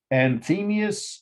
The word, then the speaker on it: Anthemius: the architects i'll spell them slowly two architects and themius and isidorus that's a-n-t-h-e-m-i-u-s and the second word